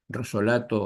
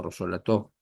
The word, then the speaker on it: Rosolato: Vale decir que la idea de sacrificio que trabajó admirablemente Rosolato o Rosolató, como lo quieran pronunciar, este psicoanalista francés con